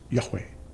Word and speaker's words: Yahweh: elephant you would say yud V which is pronounced in in even modern uh hebraic as Yahweh and again this means our existence is a